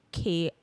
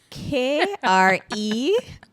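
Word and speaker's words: Kreyòl: In Haitian Creole, it would be Krowol. No, Kreyol. Creole.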